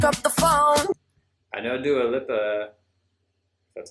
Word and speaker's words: Dua Lipa: I know Dua Lipa, that's how you say it, but don't know the song.